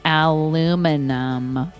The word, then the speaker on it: aluminum: Aluminum foil. Aluminum because that's how it's spelled.